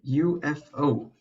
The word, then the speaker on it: UFO: Well, technically, it's not a word, an abbreviation, but again, let's not say it like it is actually pronounced letter by letter and it stands for unidentified flying objects.